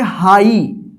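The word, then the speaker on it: high: देखिए एच आई जी एच इसको क्या पढ़ेंगे हाई हाइ नहीं पढ़ेंगे हाई एफ आई जी एच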